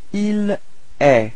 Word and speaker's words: il est: And then for il, masculine, il est. So it's quite strange because it does sound the same as tu, okay, but then there is this final T, but you don't pronounce it. So il est.